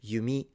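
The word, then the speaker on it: 弓: ninja ninja instead samurai samurai is a rising pitch samurai same with yari the spear or yumi the bow. These are all low to high pitches in Japanese.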